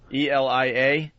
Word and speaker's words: Elia: Elia.